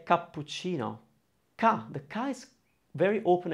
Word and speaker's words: cappuccino: hearing it but you know when you say cappuccino the kai is very open and clear the pu kappu kapoor you're actually pronouncing for syllables your goal as a speaker